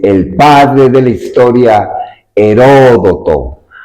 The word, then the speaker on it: Heródoto: Bienvenidos a tu genio digital en tu programa Ecosist, cuyo símbolo para nosotros es el padre de la historia, Heródoto. Hay quien hay quien lo pronuncian Herodoto, porque a partir de él surge precisamente aquellos que van recopilando los hechos de su tiempo.